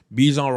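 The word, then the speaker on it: Bijan: Uh people that like to say Bjon, not Bjon. Winner. They made it clear that he wants to be pronounced BJ.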